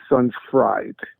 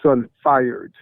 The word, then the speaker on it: Sunfired: at the word and you pronounced it sun fried and then you took another second take because you know what you said was not what's written right what's written is sunfired MHM so the cuisine